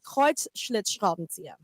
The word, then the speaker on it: Kreuzschlitzschraubenzieher: Kreuz, Schlitz, Schraubenzieher. Kreuzlichtschraben. Kreuz, Wow. Schlitz, Schraubenzieher. The whole middle of that word was like one syllable.